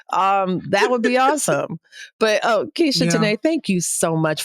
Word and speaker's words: Keshia: I'm Keisha Tanay. It's spelled Keshia, Keshia Tanay.